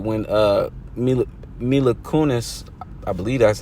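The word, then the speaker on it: Mila Kunis: Book of Eli all right when uh mil milakunis I that's how you say her name but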